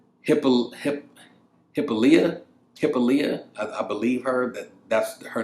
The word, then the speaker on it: Hippolyta: Hippolyta, I believe that's her name. How you say it? We're gonna call her Hip for the rest of this fucking video, right? Hippolyta. That's her name, Hippolyta.